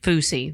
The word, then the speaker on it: Fousey: floozy tube fusey tube I don't know how to pronounce it f-o-u-s why fousey fousey there we go yeah is he live